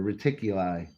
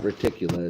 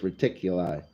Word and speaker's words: Reticuli: and the moon and Zeta reticula or reticuli that's how you say it's not reticula it's reticuli I know I got